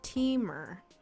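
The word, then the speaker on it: Temur: the very last one green blue red rhymes with femur oh teamer team team oh to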